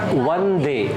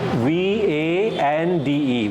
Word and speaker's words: Vande: Vande. The beginning. First letter. Vande. Like we, not W but V. V would be a better one. V-A-N-D-E.